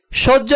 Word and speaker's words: সহ্য: জ এর উচ্চারণ হবে সহ্য বানানে হ এর সাথে জফলা যুক্ত হওয়ায় উচ্চারণে বর্গীয় জে হস এবং জ লিখেছি ঐতিহ্য বানানে এর সাথে